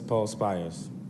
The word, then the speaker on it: Paul Spires: Paul Spires, am I pronouncing that properly? Yes, Paul Spires.